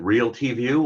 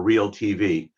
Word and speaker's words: RealTView: us all the time how do you pronounce this company name is it realty view or real TV and it's any way you want it to be so that's the answer